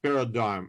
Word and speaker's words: paradigm: history philosophy and methodology of science paradigm it's pronounced paradigm it's written in this way like i wrote